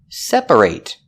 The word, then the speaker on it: separate: long a sound separate when it's not a verb we pronounce it separate separate with the I it sound because when you say separate the stress is on the first syllable only and that syllable a